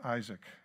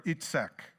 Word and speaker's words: Isaac: Through what happens with Isaac or eatsak if you want to pronounce it correctly but I'm not Hebrews so we saw God's